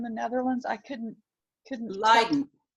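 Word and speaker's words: Leiden: Netherlands I couldn't couldn't lien lien and it's spelled l e yde n was the way they spelled it in the 15 1600s today it's spelled l i d n it's about halfway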